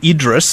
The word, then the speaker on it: Idriess: settle his surname first I say Idris I know other people say idri the spelling is idries how do you say it well Michael uh for